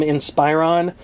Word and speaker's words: Inspiron: over my pronunciation of the brand name Inspiron people the root word is Inspire okay don't make me